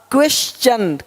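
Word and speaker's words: question: देख पा रहे हैं यदि किसी शब्द के अंत में एस के आगे टी आई ओ एन हो तो टी के आगे यू आर इ आए तो टी का उच्चारण च होता है देखो यहां पे टी का क्या होगा च क्वेश्चन क्वेश्चन अब क्वेश्चन नहीं बोलते क्वेश्चन नहीं क्वेश्चन क्वेश्चन देखो नेचर यहां पे नटूरे नहीं बोलते नटूरे नहीं नेचर है ना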